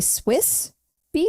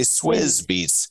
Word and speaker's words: Swizz Beatz: I'm like, should we say Swiss Beatz? I think you're supposed to say Swizz Beatz.